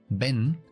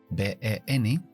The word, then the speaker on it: Ben: Ben, B-E-N, sé pronunciarlo porque es una sílaba cerrada. Significa que después de la vocal E hay una N que cierra la sílaba. Por lo tanto, la vocal tiene que ser corta. Y la E corta, E, Ben.